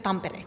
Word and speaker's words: Tampere: Tampere University, do I say that correct? University of Tampere, yes.